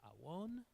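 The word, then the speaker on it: עָוֹן: The word for iniquity is avon, is actually pronounced awon.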